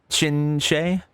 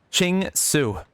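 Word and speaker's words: Qingce: I learned the pronunciation for this last time, but I'm... Chinche?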